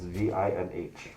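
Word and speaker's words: Vinh: names my mom's name is v-i-n-h pronounced Vin my dad's name is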